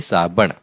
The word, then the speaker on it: साबण: ये जो है ना इसका प्रोनाउंसिएशन ण होता है ण ये वाला है ण और ये वाला भी होता है इसका होता है न तो ये है साबण नेक्स्ट है टॉवल अंग्रेजी में टॉवल क्या कहेंगे अंग्रेजी में?